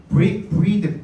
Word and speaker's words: breathe: 자, breathe, B-R-E-A-T-H E가 붙어 있으면 이건 동사고 E가 빠져 있으면 명사죠, 그죠? B-R-E-A-T-H breath라고 하죠. 발음도 다릅니다. 명사형은 breath고 동사형은 breathe입니다.